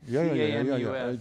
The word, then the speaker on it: Camus: C-A-M-U-S. Pronounced Camus. Just how to pronounce in Latin.